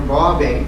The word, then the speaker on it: Bauve: Michael Catholic Church to a woman named Margarita Bauve, B-A-U-V-E. V is pronounced like a B.